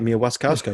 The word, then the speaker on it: Mia Wasikowska: you said it right, Mia Wasikowska.